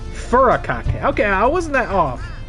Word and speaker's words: furikake: How to pronounce that? Furikake. Furikake.